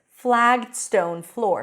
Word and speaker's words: flagged stone floor: The stress is on floor because that's the noun.